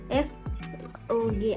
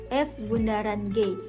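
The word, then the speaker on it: f∘g: komposisi adalah seperti ini dibacanya Bundaran nanti adek-adek jangan membaca dengan f o g akan tetapi dibaca dengan F Bundaran G dengan ketentuan F Bundaran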